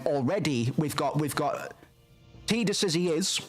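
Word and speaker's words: Tidus: We already get the idea that that T Sorry, I'm going to do that a lot. Tedus. Titus. Titus is the name. It's the pronunciation that makes sense, but it's Tedus.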